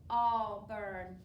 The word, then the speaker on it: Auburn: How many parts do we have in Auburn? 2. That's what I heard. What's your first part? Ah. And AU is making the ah sound at the beginning.